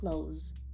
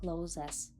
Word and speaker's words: clothes: Дуже часто слово одяг вимовляють неправильно. Зверніть увагу, правильно close, close, close без закінчення і неправильно казати closes.